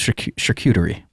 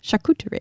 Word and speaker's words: charcuterie: different types of products is that how you pronounce that charcuterie i always thought it was charcuterie like cuticle no no charcuterie damn it a italian